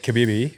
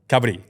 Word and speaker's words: Kabaddi: So you're playing this new sport called Kabibi, and you said you got to. Is it Kabibi? Kabaddi. Kabaddi.